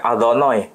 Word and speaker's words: Adonai: Orang Yahudi membacanya Adonai. Tidak boleh dibaca sesuai dengan tulisan.